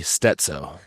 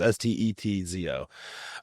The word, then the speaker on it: Steczo: For everybody, the C is like a T, Steczo. So it's Czech. C is like a T, right? So phonetically, it's Stetzo.